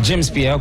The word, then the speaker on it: James Pierre: Donc James Pierre, comme ça c'est écrit, comme ça se prononce.